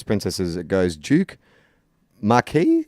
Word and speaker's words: Marquis: as it goes Duke Markey is that how you pronounce it oh yeah like like a marquis de sade Nike like it Marquis